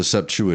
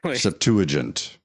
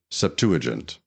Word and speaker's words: Septuagint: of that word septu you're not saying it right Septuagint it's right there on the screen Septuagint it's the earliest extent